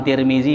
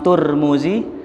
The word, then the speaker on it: Tirmidzi: Ya saya kita Tirmidzi Imam tirmizi boleh Imam turmuzi boleh Imam Tarmizi boleh makanya diketahui ada yang